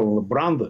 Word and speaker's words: Брандо: о том как Мар бранда Как вы произносите на американский манер в России говорили брандо да его хотели пригласить